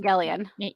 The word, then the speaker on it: Evangelion: How did you pronounce that? Yeah, Evan- Evangelion.